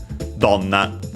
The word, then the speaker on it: donna: would be long otherwise in donna. And yeah, it's simply accent on the first syllable.